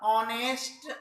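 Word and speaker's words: honest: ये जो लिखा हुआ है इसको पढ़ा जाता ऑनेस्ट मैन, ऑनेस्ट ओ, एन लगेगा।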